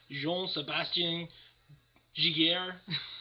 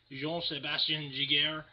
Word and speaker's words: Jean-Sébastien Giguère: I got Jean-Sébastien Giguère. I think that's how they pronounce it in Quebec. Jean-Sébastien Giguère.